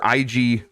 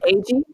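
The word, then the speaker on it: Eiji: Legend of Zelda producer IG Aluma IG I think IG is that how you say it IG auma is it ag ag there you go that I knew it was wrong Ag auma and game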